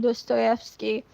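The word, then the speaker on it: Dostoevsky: That's how you pronounce it. Do Stoski, a Russian author.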